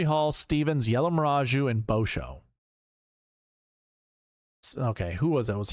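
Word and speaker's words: Bauchou: Just think of I just I want his name to be Bo Show to be like Boat Show. He's the boat show. It's Boou. Bosho.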